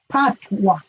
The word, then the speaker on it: patwa: No, it's not potato patwa, it's patwa. Miss Lou Jamaica patwa. And in English they spell it P-A-T. Oh yes, P-A-T, yeah. But we say patwa. Like a picnic.